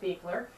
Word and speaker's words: Beuchler: talking to beer how to pronounce it beer and lives on